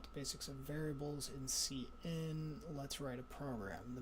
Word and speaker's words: cin: and there's something called c in that's used for input okay see i'll enter your password and password okay the name cn refers to the standard input stream pronounced cn for character input second operand of the